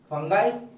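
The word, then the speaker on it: fungi: तो ये फंगाई है, फंगी नहीं है ना। तो पर बोलने के लिए चलता है, बट ओरिजिनली इसका जो प्रोनाउंसिएशन है वो है फंगाई ना।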